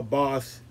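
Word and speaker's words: baas: boss you know because in dutch you spell boss uh a b-a-a-s and uh but it's pronounced like boss in english b-o-s-s and so uh white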